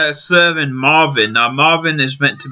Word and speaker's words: MRVN: Now it's called Serving Marvin.